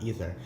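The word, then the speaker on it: Aether: It's spelled A-E-T-H-E-R, but it's pronounced ether.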